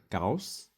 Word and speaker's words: Gauss: So they have his name at the front, and his name is Carl Friedrich Gauss. So what looks like a B on the end is actually double S in German.